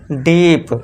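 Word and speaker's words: deep: अब double E आ रहा है तो इसके लिए हमने बड़ा बड़े की मात्रा लगा दी। पी के लिए प लिख दिया। तो ये क्या हो गया? डीप।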